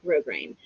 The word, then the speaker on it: grosgrain: And if you're looking to buy this, guys, grosgrain is Gross-Grain. So it's like gross grain, but it's pronounced grosgrain.